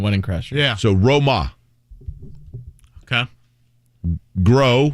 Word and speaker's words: Grosjean: those that are curious here's how you say his name you ready uh what do you do to a boat blank blank blank your boat either one of you guys row it thank you ro okay um what does